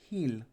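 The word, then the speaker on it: Gil: our new winger brian hill um spelt jill pronounced here but we won't go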